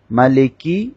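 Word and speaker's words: مَلِكِ: আউজুবি রব্বিন নাস মালিকিন্নাস মালিকি স্বাভাবিকভাবে উচ্চারণ করতে হবে এখানে টান দেয়া যাবে না মালিকি তারপর এখানে কিন্নাস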